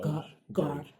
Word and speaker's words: garage: Gar. Garage. Garage sounds very um French. Garage. How do you spell garnish? The first three letters of garnish is g a r.